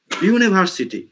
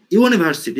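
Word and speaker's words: university: সেটা নেওয়া যাবে না তো ইউ এর উচ্চারণ আমাদের একসেন্ট অনুযায়ী ইউ হচ্ছে বাট যখন ব্রিটিশ বা আমেরিকান একসেন্ট আমরা শুনব সেটার উচ্চারণ হয়ে যাবে ডু এরকম হয়ে যায় ইউনিভার্সিটি ইউনিভার্সিটি এরকম চলে আসে কনসোনেন্ট সাউন্ড দেয় এই কারণে এটার আগে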